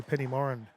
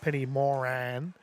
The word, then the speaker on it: Penny Moran: We will see Penny Morren taking on or as I found out I just talked to Penny. It's Penny Moran. So, I need to uh make sure I pronounce it right going forward.